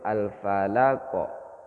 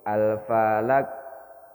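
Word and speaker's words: الفلق: Qalqalah itu surat alfalaqo jadi bacanya itu alfalaqo pantulnya alfalaqo gu J huruf qnya itu dipantulkan bukan hidup kalau dihidupkan bacanya alfalaqo alfalaqo itu hidup atau alfalaqu itu hidup kalau tidak dipantulkan bunyinya Begini alfalaak alfalaak Nah itu enggak dipantulkan ketika dipantulkan maka berbunyi alfalaqo Ayo bareng-bareng 1 2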